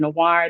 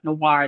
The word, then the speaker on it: noir: So when I went to the dictionary, I looked up noir, the French spelling, and I saw the NWAR spelling next to it, which is the English pronunciation of the French word.